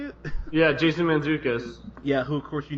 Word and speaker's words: Mantzoukas: Mantzoukas, is that how you say it? Yeah, Jason Mantzoukas.